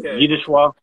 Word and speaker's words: Zdzisław: I've heard it's like Zdzisław. I can't pronounce Polish.